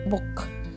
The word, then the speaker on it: book: with the pronunciation okay now double O in cool so we have long ooh sound cool but here the same letters Double O have short o sound book okay seed letter E